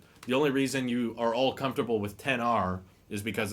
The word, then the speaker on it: X: just everybody called it the X even though it was pronounced 10 and now there's two